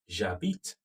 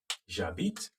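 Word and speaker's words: j'habite: in a place okay jabit jabit and then yes very good the j apostrophe is coming because h is a vowel in french so you have j instead of j e okay j apostrophe j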